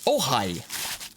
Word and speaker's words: Ojai: It is the Strymon Ojai. Ojai. The Ojai. May I? No, it's not the Mayai, it's the Ojai.